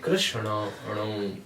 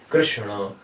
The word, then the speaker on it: Krishna: If you call Krishna, the proper pronunciation is Krishna.